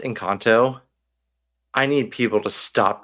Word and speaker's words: Encanto: have a hot take feeling hotot hot it's pronounced incanto I need people to stop calling it incanto